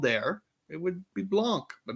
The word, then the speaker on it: Blanc: yeah yeah i mean for me it's spelt blanc yeah yeah it's like a fine wine i'm thinking well that